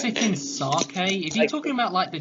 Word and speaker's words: sake: Chop it, sippy sake.